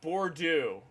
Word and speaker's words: Bordeaux: It's pronounced Bordeaux.